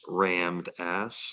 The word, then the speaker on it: Ram Dass: It's pronounced rammed ass.